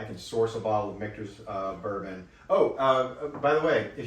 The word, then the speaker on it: Michter's: So it is Michter's, and I guess you would say it's kind of Michters, but it is Michter's. If you watch their videos, that's how they pronounce it.